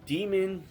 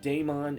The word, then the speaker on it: Daemon: It is not Don. It is actually pronounced demon is just an alternate spelling for demon.